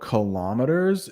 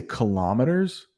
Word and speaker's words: kilometers: Well, one thing about kilometers is that we have two pronunciations in English. So I say kilometers, but you will hear some say kilometers. And I think both are accepted. Kilometers, kilometers. So take your pick.